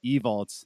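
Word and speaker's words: Ewald: Like I I completely understand because my last name evolts the Hungarian way is E W A L D and it's pronounced evol in Hungarian.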